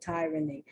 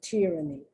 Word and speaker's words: tyranny: talking about the short why you hear people pronounce the tyranny but the correct pronunciation is tyranny sorry for the sound for the noise oh